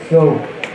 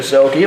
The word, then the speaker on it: Soki: Number 16, Ben Soak. The scorer's booth still has not changed the pronunciation to Soki, like we now know, thanks to our lovely viewers.